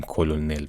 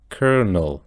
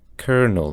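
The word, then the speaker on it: colonel: این ترتیب شماره ۶ تو فارسی ما میگیم کلنل ولی انگلیسیش ببینید کرنل کرنل کاملاً متفاوته از تلفظ فارسیش و شماره هت هم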